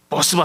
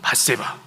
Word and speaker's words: 밧세바: 그런데 이 어떤 성도님이 이 발음을 잘못해서 또 이렇게 표현하더라고요. 버스바 사건이라고. 이 발음 잘해야 됩니다. 사람 이름 잘 불러야 됩니다. 이 버스바, 이거 잘못 말하면 다윗이 행한 일을 풍자한 내용으로도 볼 수가 있습니다. 근데 어떤 내용입니까? 밧세바 사건이에요. 밧세바.